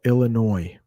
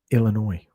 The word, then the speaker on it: Illinois: east but chicago illinois we don't pronounce that s on the end it is in california los angeles ibrahim nicely done yeah so illinois is how you pronounce that state no s illinois illinois all right couple more